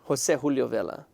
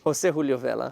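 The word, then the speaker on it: José Julio Vela: Jose Julio Vela, for all you Mexicans watching. It's true. You got to say it right. Jose Julio Vela.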